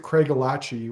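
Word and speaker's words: Craigellachie: The locals there pronounce it Craig Elachi, which is fair enough, but uh, for those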